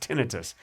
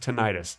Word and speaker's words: tinnitus: to get tinnitus and it is pronounced tinnitus it's not pronounced tinnitus no matter what you think well tonight it sounds better tonight it sounds better but it's pronounced tinnitus that's stupid i i know it's stupid but that's how it's pronounced no i don't want